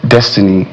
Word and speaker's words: DXTNY: Destiny. His real name is Destiny. Oh, right. DXTNY is Destiny.